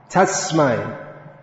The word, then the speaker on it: Tasmai: Tasmai has to be pronounced clearly. A native English speaker would automatically convert that into an S, that S into a Z, Tasmai, but that is incorrect.